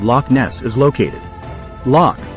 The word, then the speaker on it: Loch: Loch Ness is located Locke is pronounced as lock the word means Lake